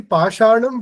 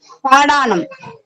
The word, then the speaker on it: Pashanam: So word is actually Pashanam, which is a Sanskrit word. But if you look at the Tamil literature, Tamil way of writing it or pronouncing it, that Sha, which is called the Murdhanya Sha in Sanskrit, actually becomes a Ta or a Da in Tamil.